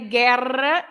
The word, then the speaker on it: guerra: say guerra because it's a G-U-E, or guitarra, G-U-I.